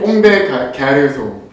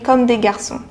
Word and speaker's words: Comme des Garçons: Korean way, this is a pronunciation of 꽁대 가르송. 꽁대 가르송. I really like Koreans who try to speak French. That's really cute. But yeah, we say comme des garçons. Still there is the R, which is so much